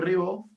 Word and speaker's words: Riveaux: tuvimos el día lunes, mi apellido se escribe Ribeaux, pero se pronuncia Ribó, y Marcet, que era